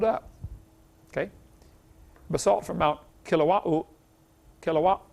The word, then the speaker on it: Kilauea: Basalt from Mount Kilauea, how do you say that? They pronounce every vowel over there in Hawaii. Kilauea, Kilauea-iki, something like that.